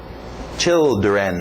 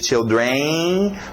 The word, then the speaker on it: children: Children, olha esse final, nada de children, para no N, children, ok?